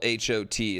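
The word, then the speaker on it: Haute: Not spelled H O T. It's spelled H A U T E.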